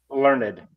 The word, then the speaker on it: Learned: Learned.